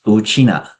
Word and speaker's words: Wu Qina: My name is Wu Qina, with the family name first. The pronunciation is exactly the same as how Ryukyu people refer to themselves as Wu Qina.